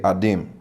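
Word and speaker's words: אָדָם: say uh you say how do you say Adam they say adim a d i m what does that mean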